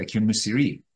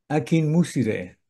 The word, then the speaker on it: Akinmusire: Es Ambrose Akinmusiri. Ambrose, él pronuncia su nombre Akinmusire.